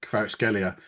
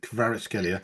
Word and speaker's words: Kvaratskhelia: I mean, he was so good that Kvaratskhelia, that's how you say it, David, Kvaratskhelia.